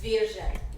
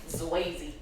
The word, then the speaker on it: Zwierze: That's how you pronounce it. Yes, dear. I don't know how you were saying it. It was Zwierze. Zucchini. Zwierze. Zucchini salad. I will throw something at you. Zwayze.